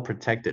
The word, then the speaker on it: protected: in sexual or racial harassment。不要读成 harassment，OK，harassment，but were protected，不用读成 but were protected，我们直接就说。But were protected，这个 t 做出口型，不用发这个音。But were protected by their unions